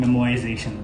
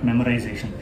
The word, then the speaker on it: memoization: later, I was like, why are people not pronouncing R? Like why are they so particular about saying memoization? Why not memorization? And then when I Wikipedia it and Googled it, I realized it's actually memoization.